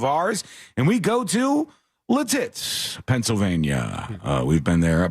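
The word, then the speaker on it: Lititz: And we go to Latitz, Pennsylvania. Uh we've been there before. I hear people pronounce it various ways, but I think Latitz is is the correct way to say it.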